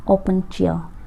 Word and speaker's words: Opuntia: सबसे पहले हमारे पास है डक्टाइलोपियस ओपेंशिया। डक्टाइलोपियस ओपेंशिया जो होता है, इसकी स्पेलिंग आप करेक्ट कर लो, दैट इज़ OPUNTIA ओपोंशिया।